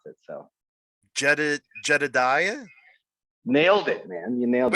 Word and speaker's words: Jedidiah: It's always interesting to see how people pronounce it. So Jedidiah? nailed it, man. You nailed it. Wait, really? Yeah. Anyhow, okay. Jedidiah Goodacre.